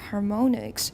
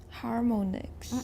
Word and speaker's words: harmonics: consonant on each side, how do we usually pronounce that in American English? We pronounce it like ah.